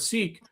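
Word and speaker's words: Sikh: For those wondering, the correct pronunciation of the word sik is with a short I and an aspirated K, just the way you are describing it. Sounds most like the English word sik.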